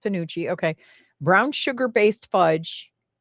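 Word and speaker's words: penuche: So, this says commonly pronounced ponucci.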